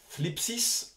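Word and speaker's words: θλῖψις: Le nom thlipsis, alors tu vois, c'est à prononcer comme si tu as un cheveu sur la langue, entraîne-toi, c'est rigolo, est traduit par tribulation, tourment, détresse, pression, oppression, affliction.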